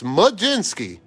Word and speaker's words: Mlodzinski: And for those of you that don't know how to pronounce his real name, or pronounce his name properly, it's Mlodzinski.